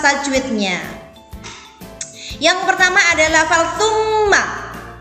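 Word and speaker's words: ثُمَّ: Yang pertama adalah lafal tsumma. Di situ ada mim tasjid, maka dibaca gunnah. Tsumma dibaca double, mimnya menjadi 2.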